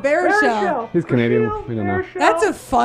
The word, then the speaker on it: Baruchel: James Brashiel, Brashiel? I don't know how to say it. The How to Train Your Dragons guy? Yeah, exactly. Oh, Baruchel.